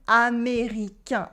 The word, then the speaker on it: américain: So A, I plus the N is pronounced un, as in américain, American, américain.